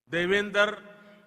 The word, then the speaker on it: Devender: I said that their name, Devender, rhymes with my own name, Narendra.